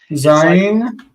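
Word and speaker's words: ז: So one pronunciation per letter. Chet. Zayin.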